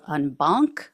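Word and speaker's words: en banc: court of appeals what's called unbank I believe is how you pronounce it e n b an c um that is when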